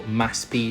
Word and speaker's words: MASP: There is a famous art gallery on Avanita Powista called MASP or they pronounce it in Brazil Maspi.